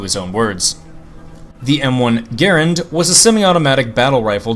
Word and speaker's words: Garand: Garand, and yes, that is how you pronounce his name according to his own words. The M1 Garand was a semi-automatic battle rifle designed for infantry use.